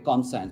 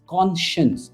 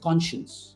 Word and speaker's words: conscience: अब इसकी स्पेलिंग है ना कॉन्साइंस, कई लोग कहते हैं कॉन्साइंस, बट इट इज कॉन्शियंस. इट्स शन, जैसे शन कहते हैं ना, इट्स कॉन्शियंस, राइट?